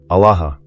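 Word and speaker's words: ܐܠܗܐ: Alaha. Say it again. Not quickly. Let each syllable open fully. Ah — wide open. La — flowing forward. Ha — releasing.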